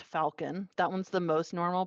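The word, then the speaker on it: Falkin: the next one is f-a-l-k-i-n pronounced Falcon that one's the most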